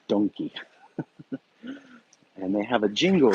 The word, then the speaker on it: Donki: Uh, we spell it Don and then Quixote. They spell it Donki, and everyone knows it as Donkey.